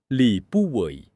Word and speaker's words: Li Buwei: Li Buwei, or as many of you may know him by his Teochew pronunciation, Lipudyon , was not a wise scholar or a high-born official.